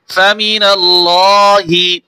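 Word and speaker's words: فمن الله: ফামিনাল্লাহ, হাজির হি, ফামিনাল্লাহি, এই হাজের হি ওয়াকফ করলে এই জের হরকত থাকবে না, শুধু হা উচ্চারণ হবে, ফামিনাল্লাহ।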